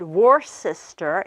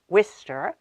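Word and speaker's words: Worcester: be pronounced for example she might have said war sister instead of Wistar she might have said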